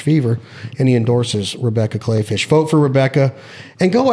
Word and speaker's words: Kleefisch: Kleefisch. Kleefisch. It's pronounced Klee. Or, I mean, it looks spelled Klee. It's German. Klee is clover. Clay.